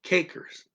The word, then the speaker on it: kijkers: I want you to listen to that for K in cakers, cakers. This is an elevated stressed syllable.